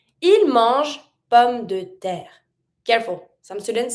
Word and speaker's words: pommes: Il mange pommes de terre. Careful, some students say pommé. It's not pommé. Every time you see E without any accent, mute.